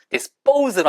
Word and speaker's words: dispose: dispose 해도 되지만 S 발음 다음에 P 발음 강하게 난다고 말씀드렸죠. dispose로 하세요.